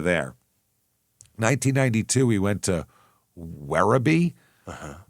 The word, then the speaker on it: Werribee: 1992, he went to Werribee? Uh-huh. W E R R I B E Werribee.